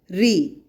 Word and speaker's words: ऋ: री, इसका उच्चारण री या रू की तरह किया जाता है।